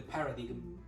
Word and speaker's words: paradigm: the paradigm in the paradigm of i'm sorry how do i pronounce that paradigm yeah paradigm yeah like dime like the point um how did